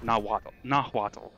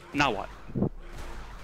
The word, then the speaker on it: Nahuatl: It's actually a really attractive language, and the language is spelled Nahuatl. And people go Nahuatl, or something like that. It's pronounced Nahuatl.